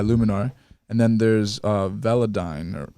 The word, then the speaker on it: Velodyne: and then there's uh veladyne or right what is it how do you pronounce it yeah velodyne style it's like a toothpaste brand yeah sensodyne that's right that's one